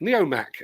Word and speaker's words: Neomac: Our friend Gary Major says that Neomac, pronounced Mac, Neomac is the work of Main Engineering, same guys behind those superb Eurocomac excavators.